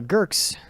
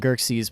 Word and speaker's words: Girks: that we have uh Girks, which I believe it's just girks, the single syllable. Uh we keep calling them gerxes, but it's just girks.